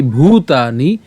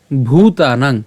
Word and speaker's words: ভূতানাং: ইয়া নিশা এরপর সর্ব ভূতানাং কেন ভুতানাং কারণ এখানে ভ আছে এবং দীর্ঘকার আছে তাহলে এটা আমাদেরকে উচ্চারণটা একটু চাপ দিতে হবে মানে ভুতানাং উচ্চারণটা এভাবে